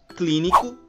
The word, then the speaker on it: clínico: médico, hóspede, matemática, árbitro, clínico e hipopótamo. Percebam que nessas palavras nós pronunciamos a antepenúltima sílaba com mais intensidade, pois nós falamos da seguinte maneira. Médico, hóspede, matemática, árbitro, clínico, hipopótamo.